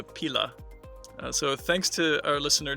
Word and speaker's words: pila: And in Italian, it's a pila.